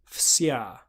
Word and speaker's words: fsya: So FS, an example from English would be reefs, fs, and a word that we'll be singing that has that is fsya, fsya. So again, it's pronounced exactly as it's written. It just feels a little bit odd.